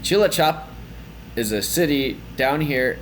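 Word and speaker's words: Cilacap: tongue twister It's Tricky so this is Chila chop Chila chop and Chila chop is a city down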